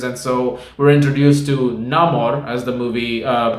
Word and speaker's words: Namor: there are Invaders and so we're introduced to Namor as the movie uh pronounces it and played by Dino chuerta who